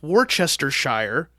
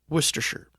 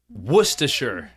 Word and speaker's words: Worcestershire: that supported him by stealing syllables from their place name uh-huh and so that is why instead of Worchester Shire is now pronounced Worcestershire Worcestershire yep because some some